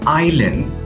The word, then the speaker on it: island: with s interesting word Island and I there is no s pronounced if you want